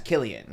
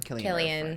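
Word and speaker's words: Cillian: Killian. Killian. Yes. The right pronunciation.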